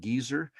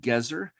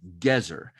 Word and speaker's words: Gezer: impolite so there's no that's a good reason to pronounce it the biblical way the hebrew way gezer gezer's the hebrew word